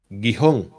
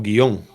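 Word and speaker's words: Gihón: nombre del segundo río es guijón o guion dependiendo como lo queramos pronunciar Este es el que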